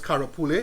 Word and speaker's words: karapule: So this is actually curry leaves, but we call it by the original name, which is karapule, is how we pronounce it, right?